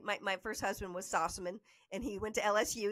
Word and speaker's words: Sossamon: LSU baseball player so I think you can stick with saucerman for that by the time I got into television I threw the other syllable in because I you know felt like it needed to be that to be okay got it got it